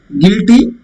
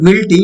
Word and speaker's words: guilty: Guilty. U. It's not guilty. It is guilty. U is. There is no sound like U. It's only guilty.